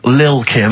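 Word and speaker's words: Lil' Kim: Now, Steve, I see there it's a track by Little Kim, but how are you pronouncing it? I'm pronouncing that correctly, Lil Kim. Oh, no T's involved.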